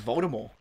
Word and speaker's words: Voldemort: has been quoted to say it was Voldemort. Voldemort. Like, the T is silent.